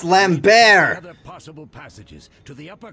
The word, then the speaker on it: Lambert: magic in due time Lambert no that's pronounced lamb bear possible passages to the